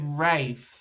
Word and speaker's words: Ralph: But anyway, I said Ralph spines and you said Rafe. That's how he That's how they say it. Although it's spelled Ralph for some reason. They say Rafe Fines.